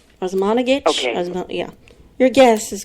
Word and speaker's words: Osmanagich: Osmanagich. Osmanagich?